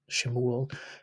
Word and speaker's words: Samuel: If they were wanting to go for an authentic sound, they would say Samuel or Shemuel in actual Hebrew, but they might, say Samuel with the English pronunciation.